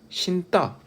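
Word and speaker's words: 신다: 그냥 발음을 해보면 자, 신따. 자, 이거 발음 누구나 다 신따라고 발음하죠. 그죠? 용언의 어간 니은 뒤에 어미의 첫 소리 디귿이 오니까 이렇게 된소리 대기가 됩니다.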